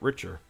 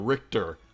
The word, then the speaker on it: Richter: dark pit we got richer no I'm sorry Richter I know his name now the H is silent Richter okay my bad